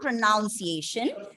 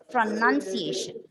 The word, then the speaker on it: pronunciation: word of pronunciation okay it's not pronunciation it's pronunciation n-u-n a unit of pronunciation having